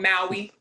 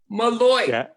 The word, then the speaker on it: Malloy: Did I say it wrong? Maui. Hi, Rashanah. Malloy. Malloy. Yeah, it's tricky.